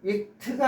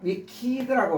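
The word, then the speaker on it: wicked: 그러니까 위키드요 발음은 익트가 아니라 위키드라고 발음 돼요. 키드라고 이렇게요.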